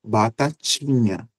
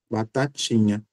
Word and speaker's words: batatinha: Na minha pronúncia eu digo batatinha, mas é claro que em algumas regiões as pessoas usarão o mesmo T da sílaba tá para a sílaba ti e pronunciarão batatinha, que é esse T, ó, ti, que usa a língua e os alvéulos, né? não chega a tocar nos dentes.